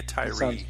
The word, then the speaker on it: Tyre: I'm assuming that's pronounced Tyre. It's T-Y-R-E. That sounds about right. Could be a Tyree situation, but I honestly don't know.